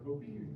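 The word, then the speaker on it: kopje: game between zebros okay this structure is called the copi our copy and not spelled like the word copy that we're used to but k o j p e or something but it's a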